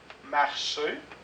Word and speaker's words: marcher: groupe remarquez la prononciation marcher donc on ne prononce pas le R penser on ne prononce